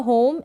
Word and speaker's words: home: ये है होम, एच को ह, ओ को ओ, एम को म, और ई है इसको प्रोनाउंस नहीं करेंगे, यानी ई इसको पढ़ेंगे नहीं, होम पढ़ेंगे।